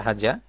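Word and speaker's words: هذا: করে প্র্যাকটিস করবেন এইটা আরবি ভাষায় হাজা এইটা হাজা অনেক সময় হাজা বলা হয় হাজা হাদা এখানে হাজা শব্দ সঠিক উচ্চারণটা হাজা ওইটা জালেক ওইটা আরবি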